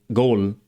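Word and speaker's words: گل: And this letter represents the sound g. Standard Arabic only has k and q, not g. So, they modified the Arabic letter for k by adding an extra stroke above it. For example, gol meaning flower.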